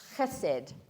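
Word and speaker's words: חסד: from this word, is it's spelt hesed, H-E-S-E-D, but I think you pronounce it chesed.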